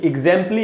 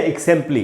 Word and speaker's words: exempli: तो इसको एग्जाम्पली ग्रेशिया में भी एग्जाम्पली या एक्सेम्पली, दो उच्चारण इसके। एग्जाम्पली ये जो वर्ड है EXEMPLI, इसको आप या तो एग्जाम्पली या एक्सेम्पली दोनों पढ़ सकते हैं, दोनों करेक्ट है।